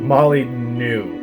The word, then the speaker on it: Molyneux: Peter Molyneux, God, I hope I said his name right. Molly knew. I learned how to pronounce it.